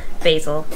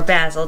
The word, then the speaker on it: basil: to go searching for a basil or basil depending on how you pronounce it if you're Gordon Ramsay it's basil and I think I'm